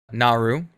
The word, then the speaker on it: Naru: who i need to get the name right naru naru thank you naru who is this uh female